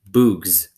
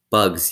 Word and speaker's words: bugs: Zero concentrated hard, then said, Boogs. Stanley laughed. A wide smile spread across Zero's sick and weary face as well. Bugs, he said. Good, said Stanley. Remember, it's a short U sound if there's no E at the end.